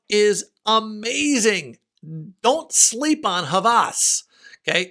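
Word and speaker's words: Hawas: amazing don't sleep on havas okay h-a-w-a-s but pronounced havas by rasassi and it's like 42.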